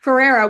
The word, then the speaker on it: Ferreira: when he talked about, and correct my pronunciation, Ferreira. I think yeah, Ferrero I think is right. I think That's so. what I Ferreira. said in the movie. Okay, perfect. We'll go with that. Ferreira, one of the things that he writes down